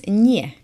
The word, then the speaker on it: nie: And no is nie. Nie. Nie. What am I doing wrong? It's softened. The N is softened by the I. So it's nie.